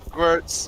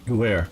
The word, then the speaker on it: Gewehr: There's like every time I look up for German guns like Mausers, Gewurz. I horribly mispronounced that. Gewurz. Gewehr. There we go. I think that was better.